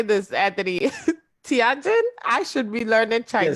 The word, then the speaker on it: Tianjin: Tianjin? I should be learning Yes, Chinese. Tianjin. That's right. Tianjin and other Yeah. cities. Yes, he cooperates he cooperates, I'm sorry, startup castle with the Tianjin local government, a project that incubates early stage